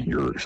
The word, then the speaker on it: Urich: Okay, Urich, how they pronounce it.